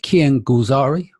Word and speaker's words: Kian Golzari: Bring back good friend of the show, Kian Golzari. How you doing? I'm all good, Danny. I'm all good. Thanks very much for pronouncing my name correctly because No.